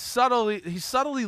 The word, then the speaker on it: subtly: Damn, B is silent. He's subtly letting you know that he got more opportunities.